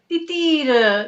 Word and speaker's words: Titir: Titir. Is that like a tir as in the arrow tir? Titir. Yeah, the pronunciation is that, but it means dove in Bengali.